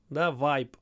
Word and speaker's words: vibe: as well Ki Vibe vibe uh Vibes I love the vibe when you pronounce English Vibe it needs a lot of Y you know like y really a lot Vibe Good Vibes let's see